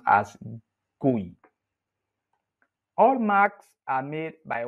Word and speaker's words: GUI: computer with a graphical user interface or GUI pronounced as GUI all marks are made by one company and